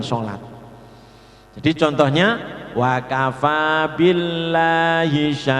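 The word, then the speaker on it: الله: Maka bacanya billahi, lidahnya ada di gusi. Ketika dibaca sebelumnya dibaca fathah atau dhammah, lamnya menjadi tafkhim, bacaannya tallahi, abdullahi. Yang perlu diperhatikan cara membacanya, lidah tetap harus nempel pada gusi karena asalnya kan lam.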